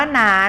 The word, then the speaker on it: น้า: แล้ว ก็ คำ ว่า น้า นะ คะ นัก เรียน ขา ใช้ วรรณยุกต์ รูป โท ก็ จริง แต่ ออก เสียง เป็น เสียง ตรี นะ คะ ก็ ชนะ อักษร